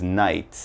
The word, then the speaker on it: knights: it's night time now if there's a K here this is like the old style in England like King Arthur and his knights and they wear the armor